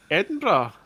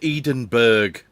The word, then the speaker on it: Edinburgh: Ah, it's like uh Edinburgh, I think. Oh, come on. It's pronounced Edenberg.